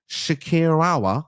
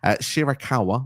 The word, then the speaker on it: Shirakawa: mind the fact that from Stardom uh Mina Shakira I hope I've said that right I probably butchered that so apologies shirakawa there we go um she's been around in